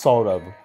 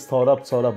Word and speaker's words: সৌরভ: বলবে বলে আমার নাম সৌরভ my name is সৌরব মানে তারপর সাহেব সরা কিছু একটা উচ্চারণ করল তারপর সে সাহেবকে দোষ দেবে সাহেব আমাকে সরব সরব বলছে সৌরব তোর নাম সৌরব সরব কেন সাহেব